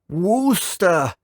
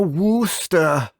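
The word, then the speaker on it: Worcester: move to Now, I I know I pronounced this wrong in a previous episode, so I'll try and pronounce it better from now on. Wooster, get in the car. We're going to Wooster.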